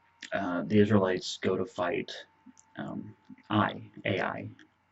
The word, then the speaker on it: Ai: and he hid it in his tent. Well, then the Israelites go to fight Ai. Ai is how it's spelled. I think it's just pronounced I, which was a fairly decent sized city.